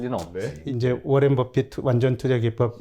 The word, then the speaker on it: Buffett: 근데 이 버핏은 물론 발음은 비슷한데 ETT입니다.